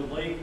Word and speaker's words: Leif: The Leif is spelled L-E-I-F.